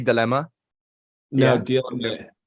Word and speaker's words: DLMA: I'm pronouncing it right. It's supposed to be Dilemma.